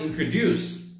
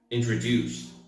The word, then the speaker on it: introduced: the others for example the word introduced is pronounced with a stress at the end so it sounds more like this introduced not introduced not introduced but introduced sometimes where you put the